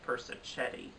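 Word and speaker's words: Persichetti: mag nominations video of i believed i pronounced bob persik Eddie's name is Bob person Chetty so again I apologize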